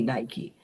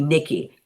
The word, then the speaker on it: Nike: just be in disbelief it cannot be Nike it'll be Nikki and that was kind of